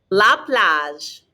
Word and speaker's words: plage: going to the dentist we're not going to pronounce the e's on the ends of words again repete la plage bien la glas la